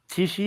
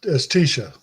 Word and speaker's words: Tisha: I want to say it is Tishi and. It's Tisha.